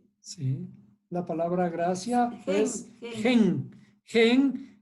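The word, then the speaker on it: חן: Esta es la palabra gracia en hebreo que se pronuncia, ¿cómo se pronuncia? Sí, la palabra gracia es gen.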